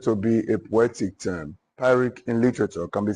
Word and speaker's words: pyrrhic: Pyrrhic. You say pyrrhic. Let's go. Pyrrhic. Pyrrhic in literature can be said to be a poetic term. Pyrrhic in literature can be said to be a poetic term.